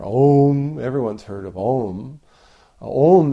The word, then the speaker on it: Om: Om is a one syllable of a mantra.